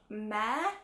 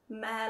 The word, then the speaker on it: Mehr: And this is a matte MAC lipstick called Mehr, I think you pronounce it, M-E-H-R.